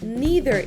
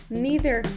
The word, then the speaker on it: neither: Neither o neither, igual con dos pronunciaciones posibles, es el opuesto del número 4.